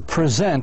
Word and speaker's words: present: So present has 2 syllables, and the stress should be in the first syllable.